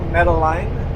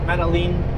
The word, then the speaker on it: Metaline: So we know Metaline is wrong, but Metaline, yeah, it's like lean beef, yeah.